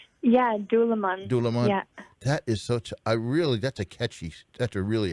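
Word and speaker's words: Dúlamán: By the way, the last selection let's see if I pronounce it right. Dalaman. Yeah, Dulaman.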